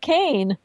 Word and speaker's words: Kean: it's the emailer because it's spell ke so it's a Scottish name and it's pronounced actually is pronounced cane but you would never know that from just reading it so thank you